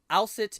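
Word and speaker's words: Aset: Gua Wald in these I'll sit is the Egyptian pronunciation of Isis Isis is actually the Greek pronunciation for the goddess Isis yeah right okay now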